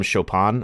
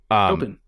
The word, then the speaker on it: Chopin: Eternal Sonata was a JRPG that was heavily based on music, specifically from Chopin, I think is how you pronounce his name. Chopin.